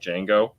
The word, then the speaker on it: Django: d kind of like django the d is silent but yo no i